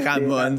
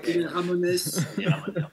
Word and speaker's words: Ramones: encore une fois hein les ramons c'est Ramones Ramones donc à la base